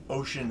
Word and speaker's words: Oisin: So, Ocean is how Hist and others pronounce it, so.